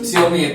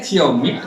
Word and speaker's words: Xiaomi: Ini bacanya Xiaomi, Xiaomai. Xiaomi. Ini ya nih.